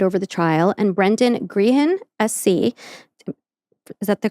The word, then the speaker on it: Grehan: Justice Paul McDermott was set to preside over the trial, and Brendan Grehan, SC, is that the correct pronunciation of the last name? Spell it. Grehan. Yeah, Green, yeah. Grehan.